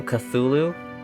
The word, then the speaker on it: Cthulhu: Name him Cthulhu?